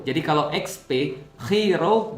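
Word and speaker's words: Chi Rho: Nah, jadi XP itu kalau XP bacanya dalam bahasa Yunani X itu bacanya khi eh P itu bacanya row. Jadi kalau XP khi row bacanya adalah Christ.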